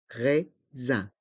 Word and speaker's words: raisin: se prononce un Z le S se prononce Z car il est entre deux voyelles les deux i r et le S à la fin de raisin est mué raisin un pain au raisin un pain au raisin